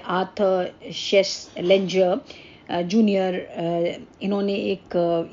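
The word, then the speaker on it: Schlesinger: Starting करी है, Arthur शेसलेंजर junior, इन्होंने एक ये टर्म जो है इंट्रोड्यूस करा है. थोड़ा इनका नाम अलग सा है, प्रोनाउंसिएशन में डिफ़र, बट स्पेलिंग थोड़ा सा ध्यान रखिएगा. शेसलेंजर, SCHLESSINGER.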